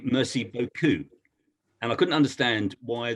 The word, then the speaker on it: beaucoup: And they said, you do realize that you're pronouncing it beaucoup, not beaucoup. So I said, well, what's the difference? And they said, well, beaucoup is nice arse.